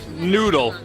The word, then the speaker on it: Knoodle: So the K is silent. Oh no! Noodle.